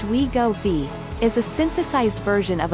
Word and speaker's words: Wegovy: depression and pancreas inflammation wegovi pronounced we go b is a synthesized version